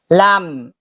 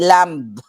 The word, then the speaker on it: lamb: Lam hindi lamb.